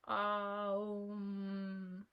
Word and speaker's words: Om: It is pronounced Om.